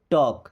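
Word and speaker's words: talk: C didn't टॉक, C means होता है वह, डिडंट मीन्स नहीं, टॉक, देखिए इस टॉक वर्ड में एल साइलेंट है।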